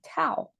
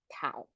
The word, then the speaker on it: 道: So that's our Tao. We pronounce as Dao, 天道.